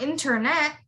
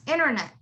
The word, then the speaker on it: internet: The next one, it's not internet, it's internet, internet, internet.